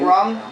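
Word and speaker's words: Runge: The artist, the cover artist is Nick Rung. Nick Rung. Yeah, the E is silent.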